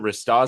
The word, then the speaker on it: Ristozi: Is that how I pronounce it? Rristtoi. Rotoi. Ristoi.